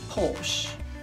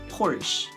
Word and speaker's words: Porsche: British English pronounce Porsche. American English pronounce Porsche. But someone says Porsche. It's okay.